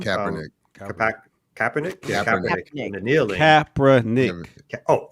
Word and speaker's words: Kaepernick: Yeah, Kaepernick.